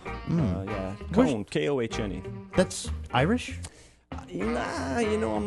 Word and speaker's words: Kohne: It's Cone. Cone. Yeah. But it's spelled with a K. Correct. Yeah, Cone. Okay. Like ice cream cone.